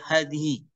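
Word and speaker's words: هذه: Kata pertama, ini bacanya adalah hadhi. Tidak ada bacaan yang lain. Kenapa? Karena isi mabni. Ya, sehingga bacanya permanen seperti itu.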